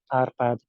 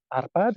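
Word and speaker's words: Árpád: six is the largest tower that represents the arpad tribe that would be the tribe from which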